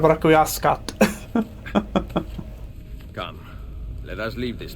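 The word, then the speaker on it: Requiescat: They say request pache instead of rauascat.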